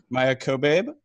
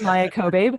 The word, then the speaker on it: Maia Kobabe: We have a special guest with us today, Maia Kobabe, non-binary cartoonist. Why don't you introduce yourself? First, I want to say you nailed that name pronunciation. Good job. My name is Maia Kobabe.